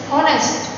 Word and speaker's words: honest: Air, it means that is silent word H. Honest, it means here it is also silent word H.